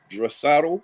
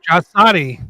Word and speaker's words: Draisaitl: And forgive me if I'm pronouncing his last name wrong. I believe it's Leon Draisaitl. Draisaitl, yeah.